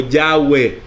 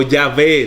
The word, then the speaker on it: Yahweh: en el día de hoy como una como yahwe o yahvé se le añade una a para que nosotros